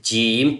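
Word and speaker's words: جيم: It's like jim. When you say jim, it's a kind of whistle sound but not complete whistle sound.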